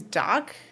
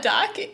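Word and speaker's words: Dach: His name is Doc. Mm-hmm. It's spelled D-A-C-H, but still, I was just like, what's up, Doc?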